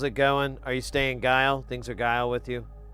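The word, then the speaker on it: geil: Not that guy, the German word guile, which is spelled g e i l.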